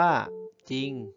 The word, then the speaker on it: จริง: เฉพาะ ภาชนะ ตัว หน้า และ ไม่ ออก เสียง ร เรือ หาก พญา ต้น ตัว